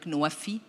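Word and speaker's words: نوفي: It's pronounced in Arabic Nuwafi, and Nuwafi is fulfilling pledges.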